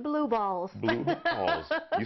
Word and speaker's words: BLOOB-ALLZ: I'll spell it for you. BLOOB-ALLZ. It's pronounced blue balls.